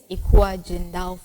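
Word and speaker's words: Ecua Gendal: of course me i don't know how to pronounce it okay so um the name is ekwa jindal fashion and it was just my name i'm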